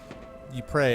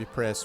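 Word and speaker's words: Ypres: gas wonderful stuff really e pre a town in Ruins dubbed wipers by British troops due its difficult pronunciation the belg town of epress was a key strategic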